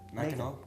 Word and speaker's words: Mackinac: Mackinac. Mackinac is correct. Mackinac City, by the way, on the same peninsula is spelled with an A-W.